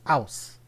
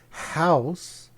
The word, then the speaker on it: house: So in New York City, New York, they pronounce house as ouse. O-U-S-E. The H is completely silent. So in that case, the more advanced rule, you would use an ouse. But in other parts of the U.S., they pronounce the H, house, so it'd be a house.